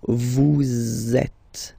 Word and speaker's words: vous êtes: So in that case, vous is ending with S, and then you tend to make a little link between them. So vous êtes, z, it goes like that.